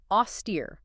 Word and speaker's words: austere: Okay, moving on to austere. A-U-S-T-E-R-E. Austere. 2 syllables. Stress on the second.